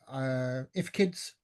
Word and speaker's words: IFCID: And there's a couple of if kids, I was told that's how you pronounce it, IFCIDs, but if kids that were delivered